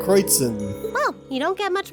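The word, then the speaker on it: Kreuzen: province in the southeast their names have German pronunciation crates in oh you don't get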